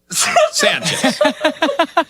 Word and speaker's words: Sanchez: They broke it up as though it's 3 syllables. Sanchez. Here's how they have. Sanchez. Here's how they wrote the pronunciation for Sanchez, which has always been pronounced Sanchez.